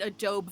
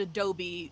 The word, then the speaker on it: Adobe: I still pronounce it Adobe Photoshop. The first time I heard someone pronounce it Adobe, my young teenage mind was fucking blown. I'm like, what the fuck did you just say? What's that word? And they're like, it was a word before Photoshop.